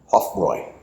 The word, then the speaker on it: Hofbräu: And I just found out that in Germany that that a um U letters at the end of a word has an oi sound. So, this is the correct German pronunciation of this isroy.